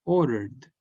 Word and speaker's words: ordered: Entonces el verbo queda como ordered. Ordered.